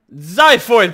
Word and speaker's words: xiphoid: already did it apparently the X in xiphoid process is pronounced as a Z now teaches me how